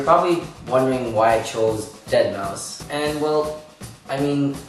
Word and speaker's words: deadmau5: mouse and i know people like pronouncing his name deadmau5 but no it's dead mouse so yeah if you're